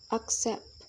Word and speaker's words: accept: Only verbs and prepositions are stressed on the second syllable. For examples, relax, abide, accept, decide, among, against, permit, between. When it comes to two-syllable verbs